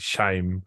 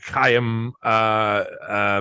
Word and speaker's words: Chaim: I've always pronounced it Shaim. But Chaim Wiseman and Nahum Goldman